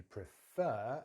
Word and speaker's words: prefer: If you prefer, and notice stress is on the fur this time because it's a verb.